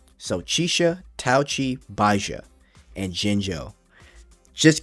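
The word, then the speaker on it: Chixia: girl Taki which I thought is how you pronounce it's touchi and thought chiia was chiia but it's actually chisha so chisha tchi baa and Jingo just keep that in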